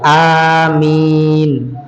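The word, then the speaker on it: آمين: maka ucapkanlah am ya jadi Anya dibaca panjang ya Amin ya sebab malaikat mengucapkan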